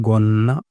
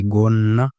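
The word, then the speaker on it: gonna: Skirt, skirt को बोला जाता है गोन्ना, go double N ए, गोन्ना। इस तरीके से हम बोलेंगे स्कर्ट को।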